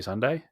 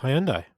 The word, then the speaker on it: Hyundai: up a new ford maverick to replace naomi hyundai yeah um hyundai excuse me hyundai sunday hyundai sunday i always say hyundai because it's how it's spelled the tire and brought a spell hyundai no it's hyundai it's not hyundai so um